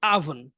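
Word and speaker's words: oven: এটাকে আমরা ওভেন বলি, কিন্তু এটা হচ্ছে আভন। আভন মানে ও না বলে আ বলবেন, আভন। আভন বাংলায় হচ্ছে ওভেন। আচ্ছা, বাংলায় ওভেন বা কিছু একটা হবে, কিন্তু বাংলায় ওভেনটা প্রসিদ্ধ, কিন্তু ইংরেজি উচ্চারণ আভন।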